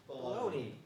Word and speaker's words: bologna: How do you say it? Baloney.